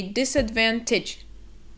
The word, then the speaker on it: disadvantage: little bit difficult because if we look at the last four letters the t a g e i think that they're easy to mispronounce it's it's kind of that tidge sound that is very quick so it's not t h it's stitch so we say disadvantage disadvantage you're at a